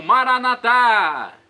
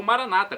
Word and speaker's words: Maranata: aramaico dialeto de Jesus eu clamo maranat como dizemos nós católicos ou Maranata como dizem nossos irmãos separados os evangélicos ou protestantes não importa pronúncia o significado é o